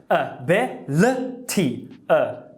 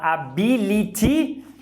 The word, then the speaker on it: ability: Ability. Não dá vontade de falar ability? Eu sei que dá vontade de falar ability.